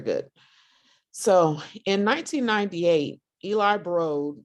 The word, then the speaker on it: Broad: so in 1998 eli brode rhymes with toad recruited jerry brown the